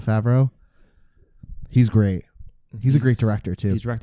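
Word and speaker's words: Favreau: enjoy John John Fara far how do you pronounce his last name favro favro he's great he's a great director too he's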